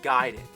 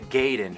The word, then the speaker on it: Gaiden: We're talking Ninja Gaiden. Everyone always said Ninja Gaiden, but I know for a fact it's Gaiden. You know where I Gaiden. learned that? From the wizard.